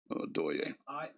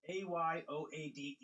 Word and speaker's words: Ayoade: Adoye. It's Ayoade.